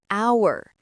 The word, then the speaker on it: hour: An hour. Even though hour starts with H. Oh, because the H is silent.